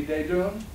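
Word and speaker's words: Desdunes: godmother lived in the same block as many de doom and that's spelled d-e-s-d-u-n -es although you'll find it spelled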